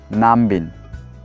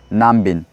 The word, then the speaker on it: Nambin: So it is called as Namling, or you can also say Nambin. Follow after me. Namling. Namling. You can also say Nambin.